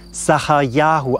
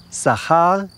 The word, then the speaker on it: Zacharja: Diesen Namen sprach man Zachariahu aus und er bedeutet, es hat sich erinnert der Herr, Zachariahu.